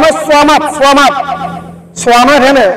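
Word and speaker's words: صمد: এটা উচ্চারণ হয় সামাদ, সামাদ, সোয়ামাদ। এখানে সানা সোয়া, সিন না সোয়া, সোয়া, সোয়ামাদ, সোয়া আলিফ, সোয়ামাদ, সোয়া আলিফ, সোয়ামাদ, আল্লাহুস সামাদ।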